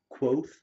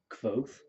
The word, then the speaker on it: Kvothe: They actually make that particular thing that his name is like Quoth is how it's spelled, but Kvothe.